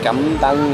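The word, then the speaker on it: cơm tấm: Cam tang is what it's called.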